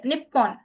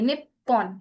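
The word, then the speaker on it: にっぽん: देखो यहाँ पर कैसे sound I, निप्पॉन, it means ये छोटा tsू है और ये पो है, हो के ऊपर, हो के ऊपर मारू है, सर्कल है, राइट। तो दिस इज पो, तो निप्पॉन, निप्पॉन, ओके।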